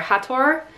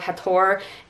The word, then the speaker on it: Hathor: osiris horus and tefnut i particularly liked how they did the pronunciation of hathor and isis because i don't know about you but for the majority of my life i pronounced that as hathor and isis and i think they might have changed east because of the similarity to a certain terrorist group but aside from that